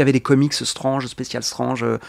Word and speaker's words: Strange: des comics Strange, Spécial Strange, je prononce à la française, hein.